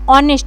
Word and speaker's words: honest: देखिए यहां पर ऑनेस्ट लिखा हुआ है। एच जो है यहां पर साइलेंट किया गया है। एच जो है साइलेंट है। ऑनेस्ट इसको पढ़ रहे हैं।